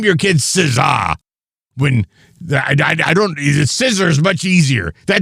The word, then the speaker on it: SZA: Scissor's going to be his special guest. It's not Scissor. It's SZA. SZA. That's how you say it.